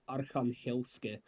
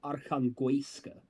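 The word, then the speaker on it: Arkhanhelske: Avdiivka, if you remember, the proper pronunciation like Ukrainian is Arkhangelsk. He says Arkhangoiska. I don't know where he gets the oi from, but I think Dima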